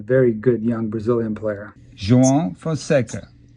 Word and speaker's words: João Fonseca: Because if you remember a while back, the beginning of this year, I was learning how to pronounce the name of a very good young Brazilian player. João Fonseca.